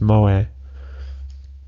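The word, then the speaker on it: moe: entertainment centered around characters who possess such traits pronounce moa the system the system is the means by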